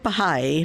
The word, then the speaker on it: Bahá'í: The word Bahá'í means follower of the glory. Bahá means glory or splendor. The I, pronounced E, means follower of.